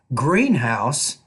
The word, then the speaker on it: greenhouse: Rule number 3, if you have compound words, for example, compound nouns, we typically put stress on the first part of the noun. And then with compound adjectives, we like to put stress on the second part of the word. For example, greenhouse, old-fashioned.